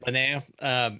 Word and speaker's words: Linnea: And then is her name pronounced Linnea? Linnea.